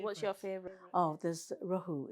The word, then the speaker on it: rohu: Oh, there's rohu. It's spelled R-O-H-U.